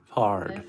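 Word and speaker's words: Foard: Fard. How do you spell it? Fard. F-O-A-R-D. Fard. A-R-D. That's like Ford.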